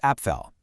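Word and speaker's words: Apfel: The German word for apple is appell. But if you pop an umlout over that a, it becomes epel, which means apples.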